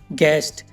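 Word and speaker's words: guest: अब गार्ड में देखो गाइस, जी के बाद यू आया हुआ है तो यू साइलेंट है। ऐसी और भी एग्जाम्पल हैं, guard, गेस्ट, गेस, guitar, guilty.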